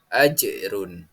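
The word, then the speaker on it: أجر: Dan contoh yang kelima, ajrun, sama, harus membacanya dengan memantul, yakni ajrun.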